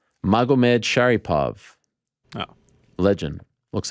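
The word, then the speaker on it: Magomedsharipov: Magomed Sharipov.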